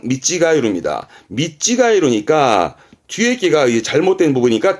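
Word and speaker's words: 見違える: 뒷글자가 아까 했던 다르다의 찌가우인데 발음은 미찌가이루입니다.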